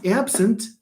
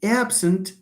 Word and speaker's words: absent: Look at the stress. So, I will be absent tomorrow. Absent, absent tomorrow. Sentence 2, I don't want to absent from these meetings. To absent. So you have absent and absent.